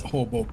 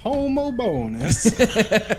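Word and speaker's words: Homobonus: and I was like, there's no way it's pronounced Hobo. Like it's gotta be like Hobobinus or some shit. So we went to Google pronounce and then a robot voice echoes back, Saint Homo Bonus.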